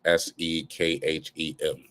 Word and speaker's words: Sekhem: I pronounce it differently with an H, but Egyptologists have translated it as Sekhem.